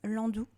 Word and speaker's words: Nlandu: Donc Landou. Et alors Landou, il y a un N avant. Alors, on le prononce pas mais il s'écrit.